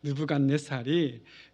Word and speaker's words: 느브갓네살: 바빌론 왕 브가 나사이 발음이 좀 이상해서 다시 한번 말씀드리겠습니다 느브갓네살이 느브갓네살 왕이 꿈을 꿉니다 어떤 꿈을